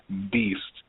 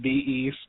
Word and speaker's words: Beast: for this podcast uh it's pronounced Beast not be East not be da teef